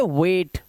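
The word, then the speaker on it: wait: एआई का उच्चारण प्रमुखता से ए होता है, यानी कि ए से इसका उच्चारण किया जाता है। जैसे डब्ल्यू और टी के बीच में ए आई, तो इसको पढ़ेंगे वेट। तो ए आई से हमारी आवाज होती है वो ए की आती है।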